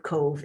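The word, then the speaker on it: Cobh: you'll see cove c-o-b-h it's pronounced cove and irish and cork city is probably just exactly where the orange dot to the left of cove is and cove is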